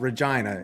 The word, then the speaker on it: Regina: Yes, Regina. It's the city that rhymes with fun.